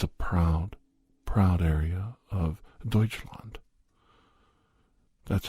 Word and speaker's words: Deutschland: west Bavaria is a proud proud area of Deutschland that's how you say it in German Deutsche